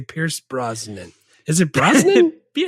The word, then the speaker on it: Brosnan: Is it Brosnan? Yeah, it's Brosnan. How else would you pronounce that?